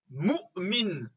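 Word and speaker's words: مؤمن: C'est également ça qu'on retrouve dans le mot mu'min. Mu'min. On a, après le mim ici, la prononciation de la hamza.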